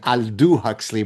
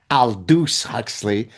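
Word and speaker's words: Aldous Huxley: Now I say maybe the French pronunciation Aldu Huxley but apparently I was corrected. It's Aldus Huxley.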